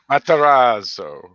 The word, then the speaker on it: Matarazzo: So the Dorkening Network is proud to introduce Heather Matarazzo. I think I got that right. Did he say it right? Matarazzo.